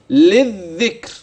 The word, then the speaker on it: للذكر: يكون النطق القران للذكر للذكر من اللام الاولى المكسوره الى الذال مشدده مباشره لذ للذكر للذكر فهل